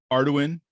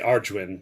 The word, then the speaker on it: Arduin: Now I know you have a collecting passion for Arduin. Did I say it right? Yeah, sure. Well, some people say Arduin, but I say Arduin because D is in there somewhere.